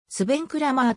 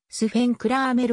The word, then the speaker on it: Sven Kramer: と選手スベンクラマーとも書かれるが本来の発音は主編クラーメルが近いスピードスケート史上